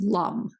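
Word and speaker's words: LAM: one by one is spelled l a m but it's actually pronounced Lum as imp Plum these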